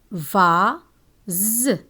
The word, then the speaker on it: vase: S is pronounced Z when it is placed between two vowels. Be careful, one S between two vowels is read Z, but double S between two vowels is read S.